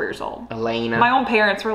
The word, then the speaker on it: Elena: But you're like, your actual name is not pronounced Elena. It's Elena. Wait, that's funny. I know that. Sorry. I'm here for it. Like, my name's Elena, but stay in your lane. Or I don't know, something like that. I wish. Instead it's Elena. It's Elena. Yeah. It rhymes with McKenna, for anyone curious out there.